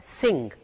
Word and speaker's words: sing: जैसे कि अंग्रेजी का एक लफ्ज़ है sing, आपने उसमें ग की आवाज नहीं निकालनी, सिंग, सिंग करके छोड़ दे, ग नहीं बोलना, सिंग सिंग सिंग.